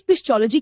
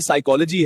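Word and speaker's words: psychology: जी सुनिए, इस पिस्चोलॉजी की किताब में लिखा है कि पतियों को पत्नी की हर बात माननी चाहिए। ये साइकोलॉजी है, इसमें पी साइलेंट है, जैसे शादी के बाद मैं साइलेंट हो गया हूँ।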